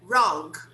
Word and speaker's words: wrong: This one here, wrong, wrong. We don't pronounce the W.